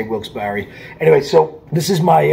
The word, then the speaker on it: Wilkes-Barre: morning i am in wilkes-barre wilkes bar wilkes-barre pennsylvania however you want to pronounce it i did ask the girl at the front desk how it's pronounced and she said well it depends on the time of day and how she's feeling so i'm not wrong by how i'm pronouncing i say wilks barry anyway so this